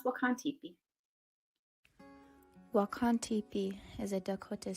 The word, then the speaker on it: Wakan Tipi: Bedote Learning Center, to teach us how to pronounce the name of this sacred site. Wakan Tipi.